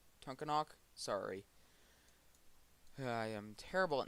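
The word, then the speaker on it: Tunkhannock: headed northeast towards meshapin and uh to not tonkanuk tunkanak sorry i am terrible at names and pronouncing them so yeah over here still watching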